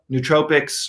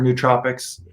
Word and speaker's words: nootropics: whole realm of uh nootropics or nootropics the pronunciation is kind of it is interchangeable or adaptogens or medicinal